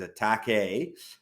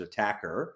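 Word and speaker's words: Attaquer: just pronounced it as attack a I have a feeling as Australians they pronounce it attacker they do beautiful stuff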